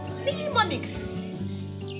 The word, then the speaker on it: mnemonics: We have instances again where letter N is silent in a word, in the word mnemonics.